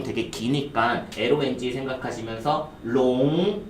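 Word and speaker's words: 龙: 용 되게 기니까 LONG 생각하시면서 롱 발음 시작.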